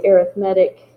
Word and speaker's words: arithmetic: And yes, it is spelled the same way as the word arithmetic, but you put emphasis on a different syllable based on whether it's a noun or an adjective.